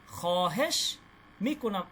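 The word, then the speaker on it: خواهش می‌کنم: খহেশ মিকুনাম, এই ওয়াওয়ের উচ্চারণটা হবে না, ঠিক আছে? লেখায় আসবে কিন্তু উচ্চারণ হবে না।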